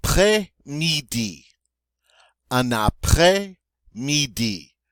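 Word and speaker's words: après-midi: up next I not play needy enough play needy notice that he exon grab that s sound I play me D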